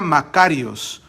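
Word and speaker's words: μακάριος: bendecido pero es una palabra griega que se pronuncia makarios iii significa feliz ok pero no de la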